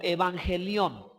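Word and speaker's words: εὐαγγέλιον: Evangelio, hermanos, es una palabra empleada en el idioma griego y es pronunciado como evangelión.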